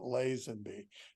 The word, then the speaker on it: Lazenby: will tell you that Jack Kent cook told me once that I didn't know how to pronounce my own last name Mo most importantly what was your response and can you say that on the air yeah no I I I said well my father pronounced it Len be I admitted to him